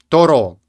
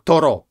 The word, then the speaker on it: Торо: знают это генри дэвид торо тора ударение на последний слог тора это генри торо это